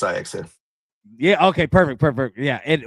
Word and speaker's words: Ajax: Yeah, it's spelled nice, Ajax, but it's pronounced Ajax.